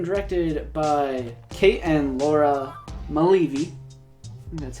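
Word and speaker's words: Mulleavy: slip yep written directed by Kate and Laura Mele V and that's how you pronounce her last name it would shock starring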